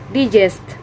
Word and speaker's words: digest: sixth word is digest the point ethics of this word is digest digest the stress is located on the second syllable and the meaning of